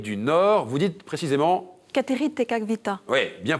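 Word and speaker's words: Kateri Tekakwitha: première amérindienne d'Amérique du Nord vous dites précisément cater tekavita ouais bien prononcé je saais pas le prononcer effectivement Catherine tekwiita et ça vous donne TR points marie bien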